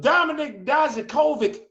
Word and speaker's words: Dijakovic: War Games I just hate the fact that they just keep damn mispronouncing that man's name. His name is Dominic Dijakovic.